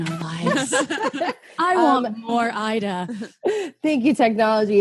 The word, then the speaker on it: Aida: And your name is spelled Aida, and your last name is. Ida. So close.